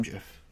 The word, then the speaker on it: GIF: joins gets the same GIF that's right I say it with a with a soft with a soft G sound fight me uh sleepy